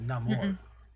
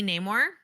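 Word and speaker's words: Namor: was very terrifying yeah they didn't pronounce it anymore like they pronounce it like no more yeah canonly it is supposed to be Neymar but for like but was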